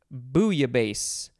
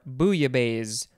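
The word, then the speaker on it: bouillabaisse: algeria next we have booya bass or booya base or yeah i think that's good i always thought you pronounced the l's in this one but i guess you don't b o u i l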